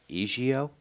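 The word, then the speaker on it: 阿胶: You say the leading importers in the world, and it's pronounced ejiao?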